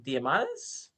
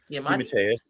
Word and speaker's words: DeMatteis: I'm gonna probably mispronounce his last name because I've always seen it in print. GM Diamandis. DeMatteis. Yeah. DeMatteis.